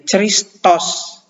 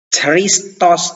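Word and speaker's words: Χριστός: cie transkripsinya atau transliterasinya CH ya tetapi kalau membacanya bukan jadi Ceris tos ya Tapi bacanya jadi ke Hai jadi kita melafalkan atau mengucapkannya khawab pun dalam penulisan tetap CH jadi ini kita tidak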